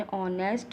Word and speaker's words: honest: एन ऑनेस्ट because O produce vowel sound और H is silent hair.